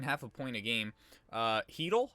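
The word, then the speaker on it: Chytil: Heedle, is that how you pronounce his name? I think it is. Not Cheidel.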